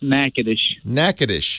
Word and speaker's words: Natchitoches: Natchitoches, Louisiana. Tommy, am I saying it right? Natchitoches? Yeah, you're close. It's Natchitoches. Natchitoches? Yes, sir. Oh boy, I've been saying it wrong all my life.